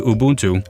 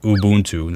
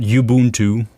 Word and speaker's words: Ubuntu: Now, I'm going to shut down Windows and get it to Ubuntu. And by the way, it is pronounced Ubuntu. That's the right way. Not Ubuntu, not Ubuntu, it's Ubuntu.